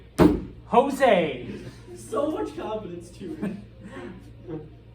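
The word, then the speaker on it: José: it up uh so whenever you see a Spanish J pronounce it like an H okay uh and so yeah Steve goes all right Jose with an H uh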